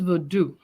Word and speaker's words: Vodou: it is it is vadu whether we put a n at the end or not the n is silent just like in oh